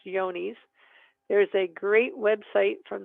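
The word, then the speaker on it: Johne's: It looks like John's disease, but it's actually pronounced Yonis.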